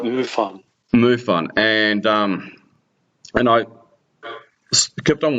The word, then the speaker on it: MUFON: Did I pronounce that correctly? Oh, that's right, MUFON.